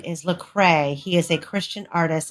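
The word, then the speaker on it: Lecrae: of the story that I've missed how you pronounce his name is lrae he is a Christian artist and his song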